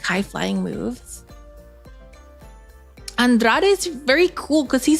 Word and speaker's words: Andrade: what's his name Carmelo Carmelo Carmelo Hayes versus Andrade an and or how however you pronounce it Andrade I really like their their their Feud even